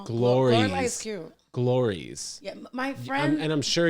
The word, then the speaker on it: Glorelys: time it was like dan calls you glories and i'm like oh okay that's how you say it in what are your